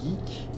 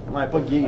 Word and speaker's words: geek: faire animer des mariages geeks. My God, que ça me fait peur. C'est important que tu prononces geek. Ouais, pas gay.